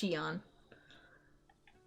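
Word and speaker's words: Shionne: are cleaning it up yes Shion that's how you say it I thought it was going to potentially be but it's pronounced Shion what hey guys I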